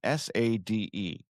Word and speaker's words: Sade: She spells her name S-A-D-E. How is that Sade?